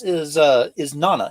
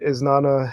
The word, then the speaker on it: Isnana: But this is Nana, is how you pronounce it, correct? Correct. Yeah. Now, give us the lore behind Isnana. What exactly is Isnana?